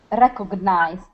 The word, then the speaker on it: recognized: the Ed ending recognized recognized yeah the stress is at the beginning instead of rolling that